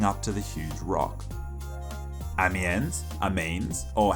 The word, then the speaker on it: Amiens: Amiens, or how it is apparently actually pronounced.